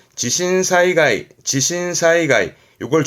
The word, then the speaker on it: 地震: 그렇죠 지진이 되는 거죠 발음은 지신 음은 신이죠 지싱 지싱 그렇죠 진동이나 신도 신도이 진동이라